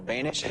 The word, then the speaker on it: Banish: My guest name rhymes with Danish. His name is Carl Banish.